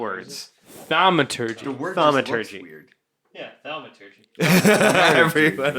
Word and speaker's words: thaumaturgy: Thaumaturgy. Yeah, thaumaturgy. Everyone is in consensus. This is how you say it. It's thaumaturgy.